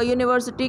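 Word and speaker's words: university: We write a यूनिवर्सिटी, क्योंकि यूनिवर्सिटी को हम लोग किस तरीके से प्रोनाउंस कर रहे हैं? यू।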